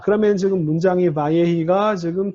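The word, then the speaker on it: וַיְהִי: 자, 이거 베히라고 발음하는 거 바예히. 이거를요, 이거를 잘라서 읽어야 돼요. 이게 왜냐하면 이게 내가 가르쳐준 그 문법 쉐바 앞에 단모음 있으면 묵음 쉐바라고 해서 바이히라고 발음할 것 같지만 이게 원래는 중복 다게시가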